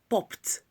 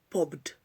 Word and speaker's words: popped: Popped, not popped. Popped, popped. Kicked, kicked. Passed, passed. The pronunciation for P-A-S-S-E-D is the same as P-A-S-T.